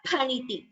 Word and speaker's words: phaniti: So this particular letter in Sanskritam we pronounce it as pa. For example, phalam, fruit. So we don't say fa. Those who have studied Hindi and those who are conversant with Hindi, sometimes they tend to pronounce it as fa, but please note we do not say fa, we say pa. So this letter is pronounced as phaniti, pa.